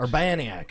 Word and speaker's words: Urbaniak: Urbaniak. I've been mispronouncing it.